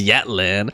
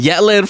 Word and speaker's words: Yatlan: Her name is Yatlan. Rhymes with Yatlan from Natlan.